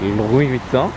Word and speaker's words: Louis Vuitton: Louis Vuitton? Hayır. Louis Vuitton diye okunur.